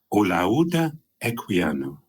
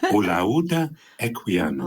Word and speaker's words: Olaudah Equiano: My name is Olaudah Equiano. Can you say that? And so I want all the listeners at home to say it. Olaudah Equiano. Olaudah Equiano.